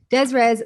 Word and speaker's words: des res: how you pronounce this this is des res yeah yeah desires that's that's a funny